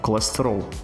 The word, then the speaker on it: colesterol: Português vai pronunciar colestrol. Colesterol. Percebe aqui que algumas sílabas são suprimidas, enquanto que outras mais fortes elas são destacadas? Colestrol. Isso acontece porque o português de Portugal, ele também tem essa característica de dar mais destaque às sílabas tônicas e também de suprimir as sílabas átonas, ao passo que o